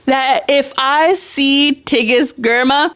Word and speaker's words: Girma: Girma.